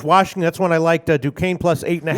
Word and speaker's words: Duquesne: Duquesne plus 8.5. How many years it took me to pronounce that freaking school right? Yeah. Did you ever? DeKesney?